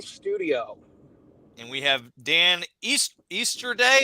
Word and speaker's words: Easterday: And we have Dan Easterday. Is that how you say it, Dan? Easterday. Just like the holiday, my dude.